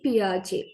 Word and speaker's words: Piaget: Swiss national gym prj we call or we pronounce his name as Gene prj right Swiss National Gene Piaget he wrote about changes and waves held upon